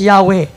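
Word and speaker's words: Yahweh: the christian church testify that the name was pronounced yahwe koon si as pronounce na na kung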